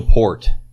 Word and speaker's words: Peart: But I ended up landing on Neil Peart from Rush.